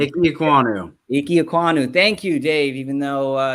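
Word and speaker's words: Ikem Ekwonu: I'm going to say his name wrong. It's Iki Ukiwa. I can't say his name. I'm not going to say his name. Iki Ekwonu.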